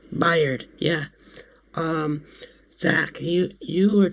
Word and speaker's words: Byard: Bayard? Byard.